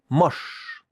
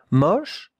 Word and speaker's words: moche: That 2 letters make the sound sh. Sh. Regardez la prononciation. Moche. It's not moche. No, it's moche. More open, the O. Moche.